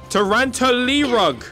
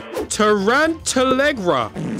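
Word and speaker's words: Tarantallegra: Tarantalegra. Oh, yes! He's actually dancing. It worked. This is incredible. Oh, they don't dance for very long. Tarantalerug. I forgot it already. Tarantalegra.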